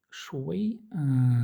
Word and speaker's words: 谁: 谁 Шуэй. Шуэй. Тоже подзабыл, не уверен. Так, смотрим. Да, произносится шуэй.